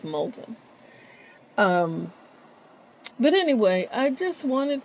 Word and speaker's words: Moulton: executive coaching dot com my friends in louis louisiana call me mouton that's something that l gets lost somewhere but it's molten but anyway i just